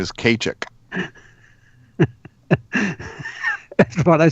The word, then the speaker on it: Ceiteach: But Kachik is Gaelic for is Celtic for Keith, and it's spelled Ceiteach, but it's pronounced Kachik.